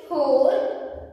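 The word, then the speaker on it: whole: Here, W is silent, children. W-H-O-L-E, hole.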